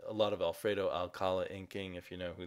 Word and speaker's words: Alcala: the early 80s a lot of uh Alfredo alala I always say his name wrong a lot of Alfredo Alcala inking if you know who that is um